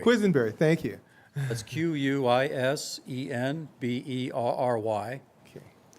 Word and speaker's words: Quisenberry: we don't need it's just okay I'll even pronounce it for you quizenberry quizenberry thank you that's q-u-i-s-e-n-b-e-r-r-y okay uh Quisenberry